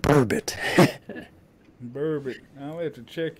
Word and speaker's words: burbot: Bourbon. Bourbon. How do you spell it? Oh, geez, I don't even know. Not bourbon, but bourbit.